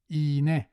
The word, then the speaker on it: iğne: And it's either silent or pronounced ye with the front vowels that precede it, as in iğne and değil.